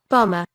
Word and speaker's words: bomber: one you can see you can't even see the B there the MB there so let's listen to it bomber bomber suicide bomber not